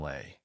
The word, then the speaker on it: les: Les ends in a vowel sound lay, not an s.